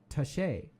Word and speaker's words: Taché: It's actually Taché because there's they put a little tilde at the end of the e, so it's Taché.